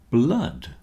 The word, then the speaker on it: blood: I've just said the word flood rhymes with mud and so does blood flood blood both rhyme with mud unfortunately my computer image